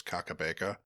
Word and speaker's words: Kakabeka: I'm not sure if I'm pronouncing this correctly, but I think it's Kakabeka Falls, which were really cool.